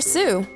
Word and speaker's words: Sioux: e e awesome job now let's look for sue native americans of the sioux tribe were known